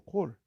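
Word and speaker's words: כֹּל: 이게 문장에서는 칼이라는 것으로 발음이 되고 원래는 콜이라는 단어예요. 콜이라는 단어. 이게 the whole, all이란 뜻이야. 이 히브리 단어인데 콜이에요. 콜.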